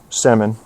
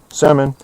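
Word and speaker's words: Semin: I'll give you the Russian pronunciation. Alexander Sman. Yep. Simmon. Semen.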